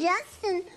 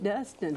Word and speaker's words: Dustin: And you, me and Justin was in Sunday school. Oh, Dustin? Dustin. Oh, Dustin. Yeah, Dustin. Say it right.